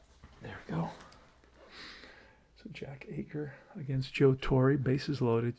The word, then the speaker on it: Aker: I think it's Aker is how you pronounce his name, not Acker.